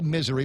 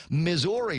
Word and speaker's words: Missouri: morning ray and mana watching Facebook live in Missouri which is how it's pronounced some people say misery but it's actually pronounced misery Norma Jean Bora Blevins is there Joel a